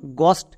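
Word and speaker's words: ghost: আর একটি এক্সাম্পল দেখ যেমন গস্ট এখানেও দেখ এইচ এর পরে ও আছে এখানেও এই সাইলেন্ট যেমন জি এইচ ও এসটি গস্ট একই রকম হবে এইচ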